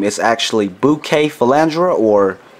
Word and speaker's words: Bucephalandra: found among the island of Borneo the correct pronunciation for the plant name is actually bouquet fandra or bu Cafe Alandra now I'm American and when I see the